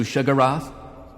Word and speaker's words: Sheogorath: Have you come to be of service to Shigarath? Despite putting that in the video, and pointing out that this is the pronunciation of the name that Morrowind gives you, people still leave embarrassing comments about how I said the name wrong.